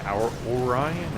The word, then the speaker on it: Orion: like an easy pronunciation I'm gonna go with Orion Orion like Orion's belt like you know it's constellation and stuff but on the forums his name is our I am like our Ryan our I don't know